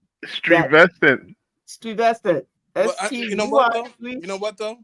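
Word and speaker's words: Stuyvesant: So I went through my entire childhood really pronouncing it Stewie. That's funny as hell. Yeah. Okay, that's what it looks like. Stuent. I did not know until I was an almost an adult high school. Strevestcent.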